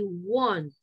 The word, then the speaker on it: won't: Cuando yo digo el verbo querer, que es want, ese va como con A, ok, want. Si yo uso la contracción de will not, ese sería como con O, won't, all right?